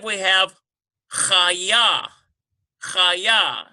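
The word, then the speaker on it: חיה: Number 5, we have chaya. Chaya, C-H-A-Y-Y-A-H. Chaya. So yes, we have a doubling here on the yod. We've got 2 Y sounds.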